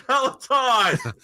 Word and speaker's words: Peloton: It's Peloton.